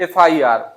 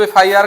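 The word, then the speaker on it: FIR: तो यहां पे जब एफआईआर का प्रोनाउंसिएशन करेंगे तो जो पहला लेटर है एफ उसको जब आप लिखेंगे तो पहले क्या आएगा? ए आएगा। तो यहां ए आएगा तो यहां क्या होना चाहिए?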